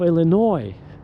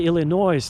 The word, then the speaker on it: Illinois: They cannot even pronounce the state of Illinois. They say Illinois, which is absolutely ridiculous.